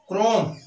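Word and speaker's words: chrome: C plus H हो तब भी उसका उच्चारण क होता है।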